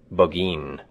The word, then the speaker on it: Burgoyne: Nutting had a famous foxhound named Burgoyne. He pronounced it Buggeen, which my informant used to borrow.